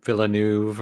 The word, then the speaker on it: Villeneuve: Dennis, I always want to mess up the pronunciation of his last name, but Blade Runner 2049. Villeneuve.